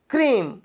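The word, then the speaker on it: cream: क्या बोला, DREAM, ए silent हो गया, और ड्रीम। CREM, क्रीम, क्रियम, क्रियाम नहीं, क्रीम।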